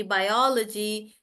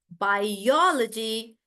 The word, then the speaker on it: biology: them, guys, like technology, biology, psychology, they are never pronounced as technology or psychology. The logy is not actually pronounced in these words, and the stress is right before that.